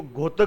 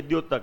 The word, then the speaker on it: द्योतक: अच्छा, कुछ व्यक्ति इसको घोतक बोल देते हैं, ये वाला इसको घोतक उच्चारण करते हैं। घोतक नहीं है भाई, ये द्योतक है, द के साथ में यह है।